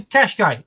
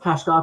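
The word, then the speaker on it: Qashqai: get a cash game do you do pronounce it cash guy question cashkay you could just start driving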